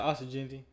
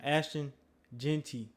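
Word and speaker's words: Ashton Jeanty: But shoot, shout out to Austin Genty. Ashton. I keep on saying his name wrong. Ashton Genty.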